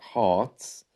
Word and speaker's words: Heart: story about the band Hearts you notice there by the way the r is silent heart and that's something